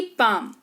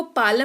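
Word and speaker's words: palm: जैसे कि पाम इसको पालम नहीं पाम पढ़ते हैं यानी कि हथेली।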